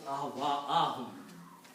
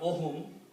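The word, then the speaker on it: أَهْوَاءَهُمْ: It is a maf'ul, so it becomes ahwa'ahum, not ohum. It is ohum actually, but it changes to a fatah.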